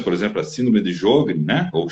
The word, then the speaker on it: Sjögren: não são articulações, por exemplo, a síndrome de Sjögren, né? Ou Sjögren, né? Os puristas aí falar a pronúncia correta, né?